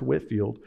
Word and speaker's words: Whitefield: you about is george whitfield now i know his name says whitefield but it's pronounced whitfield and he was a minister from britain he played a major role in the great awakening whitfield toured the colonies up